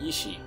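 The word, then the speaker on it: 遺志: This is pronounced pretty much the same as the term ishi, or dying will, that's being translated as blood echoes.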